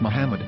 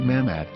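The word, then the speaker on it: מחמד: yehuda's hebrew english dictionary it is correctly pronounced as muhammad not mahmad so how we're going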